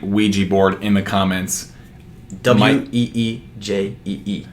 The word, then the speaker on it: Ouija: WEEJEE. No. Yeah. Yeah. That's how you pronounce it.